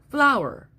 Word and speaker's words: flour: So now it begins to sound like, 2 syllables, for O-U-R. All right, but there was another option. The other option is don't lift your mouth so much. Don't go ow so much. And it becomes R.